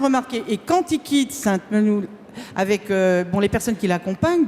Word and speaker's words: Sainte-Menehould: Et donc j'ai bien retenu, on prononce Sainte-Menehould. Sainte-Menehould. Bon, voilà, parce que ça énerve ceux qui y habitent quand on prononce mal, parce que j'ai déjà fait au moins...